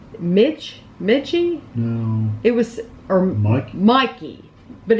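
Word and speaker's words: Michie: It was, or Mikey. But it's spelled weird. It's M-I-C-H-I-E, but I swear it's like Mikey. Yeah, it's something yeah, like but it's just spelled really weird.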